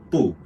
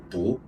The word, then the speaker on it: 不: Sometimes we pronounce it on the fourth tone, Bu. Sometimes we pronounce it on the second tone, Bu.